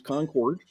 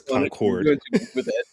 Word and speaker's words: Concord: Um, well, to pronounce it correctly, it's Concord. Concord, that's right. Okay. That's right. From North Carolina, it's Concord.